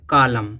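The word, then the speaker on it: column: पे एक वर्ड है कालम इसको कॉलमन नहीं पढ़ेंगे क्यों नहीं पढ़ेंगे क्योंकि एम है एम के बाद एन आया तो एन क्या हो जाएगा साइलेंट तो कॉलम कॉलम माने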